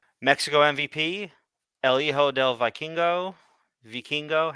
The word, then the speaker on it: Vikingo: I I say it like, all right. I understand that as a Puerto Rican, I should be able to do this, but I just say it like a Pokemon, Okay.